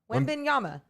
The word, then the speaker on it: Wembanyama: Wembanyama. You nailed it. Wembanyama. Give it up to Morgan. Victor Wembanyama, who will be the second best player in